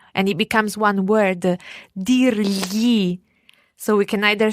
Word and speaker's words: dirgli: Dirgli. So we can either say gli può dire or può dirgli.